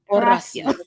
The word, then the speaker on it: Horacio: Horacio. Horacio. That's what the H is silent.